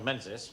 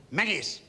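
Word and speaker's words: Menzies: invitation from major general menses Sanger minis what did you say phrase we pronounce it mini do you from major-general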